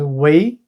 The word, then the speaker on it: 圍: A bigger form, pronounced as wei, is area.